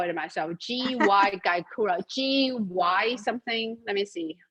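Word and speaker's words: Gyokuro: I cannot even spell it myself. G-Y Gaikura.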